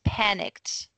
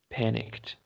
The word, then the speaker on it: panicked: So it's the first syllable is the strongest and we don't say the E, so it's panicked. Panicked.